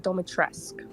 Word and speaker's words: Dimitrescu: I used to say Dimitrescu, but she pronounces it Domitrescu.